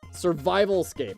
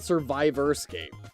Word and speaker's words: Survivalscape: Survivalscape. I was calling it Survivorscape. I was calling it Survivorscape instead of Survivalscape.